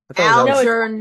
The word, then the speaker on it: Algernon: Again, phonetically. Algernon. N-O-N. Yeah, that one's a very phonetic. Whatever. Anyway. It's pronounced the way it's written.